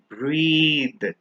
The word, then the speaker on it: breathe: breath versus breathe remember when we put e at the end we always stretch and pronounce it as breathe but without the e